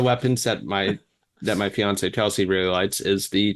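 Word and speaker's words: fiancé: opting for that apparently you got to say it like Beyonce fiance fiance yeah that's right I gotta make it rhyme like Kanye did uh no uh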